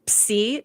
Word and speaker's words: Psi: Okay, so the Enterprise travels to Psi 2000. If you're wondering about the pronunciation there, that is the correct pronunciation because that's how we say it in Greek.